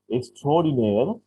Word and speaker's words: extraordinaire: This is extraordinaire. That is pronounced like that, extraordinaire in English. But this is a French word. Extraordinaire is a word borrowed from French. Pronounced in English, extraordinaire.